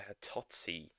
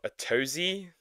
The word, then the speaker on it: Atozy: Disrespectful IL streamer is now getting prison time in Korea by Atozy. Or Atozy, depending on how you want to pronounce it.